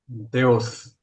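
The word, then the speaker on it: θεός: 그 다음에 하나님은 어떻게 발음합니까? 헬라어? 하나님. 데오스.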